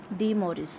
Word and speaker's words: De Moivre: The spelling is like this, you can pronounce it as De Moivre's theorem.